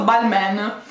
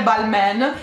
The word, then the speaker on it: Balmain: abbastanza scioccata ragazzi perché non è balmain non è ball man ma è ball ma